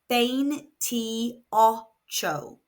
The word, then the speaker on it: veintiocho: It is pronounced bane troo. We have no accent on this word. So the second to last syllable is going to be stressed.